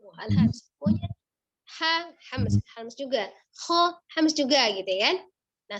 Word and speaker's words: خ: Kho-nya dari tenggorokan bagian atas, kho. Hati-hati pengucapan kho, tidak dengan monyong kho, tapi dia apa? Angkat pangkal lidahnya. Pangkal lidahnya naik ya.